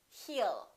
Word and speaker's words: he'll: you he will remember don't pronounce that W A lot of my students still tend to put a little W and they say he it's not he it's heal heal he'll call you he'll talk